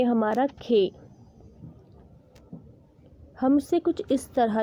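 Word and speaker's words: خ: Next word है हमारा खे। हम इसे कुछ इस तरह लिखेंगे, ये हो गया खे। खे को हिंदी में खा कहेंगे और इंग्लिश में के और एच, वही खा, इसका प्रोनाउंसिएशन निकलेगा खा।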